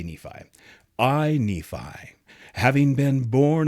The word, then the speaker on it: Nephi: Nan's got it right I Nei some people pronounce it nephy that's how you can tell if somebody's from Utah or not if they say Nephi because there's a town called Nephi in Utah